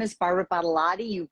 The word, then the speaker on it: Badolati: But my mom taught me to reverse Badolati and lot of body. And she said, if you tell people it's a lot of body and then just flip it, Badolati, people will pronounce it